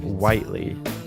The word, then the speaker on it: Whiteley: We were having a debate earlier about do we pronounce it Whiteley or Whitley, but apparently it's pronounced Whiteley.